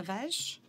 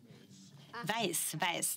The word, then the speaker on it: Weiss: Could you please state your full name, Peter Weisch? Weiss, that is how it is pronounced, not Weisch.